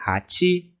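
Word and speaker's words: はち: Assim como o número ichi, ele costuma ter a segunda mais forte, mais alteada. Então vai ser hachi, hachi.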